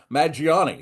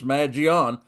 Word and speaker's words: Mangione: I've been calling him Maggiani. Well, it's not Maggiani, it's Magion.